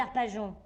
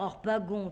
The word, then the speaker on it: Harpagon: J-O-N, ça fait bien Jon. Et ça s'écrit G-O-N et ça fait gon.